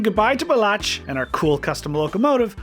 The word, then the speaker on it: Balázs: Balázs. Balázs. Balázs.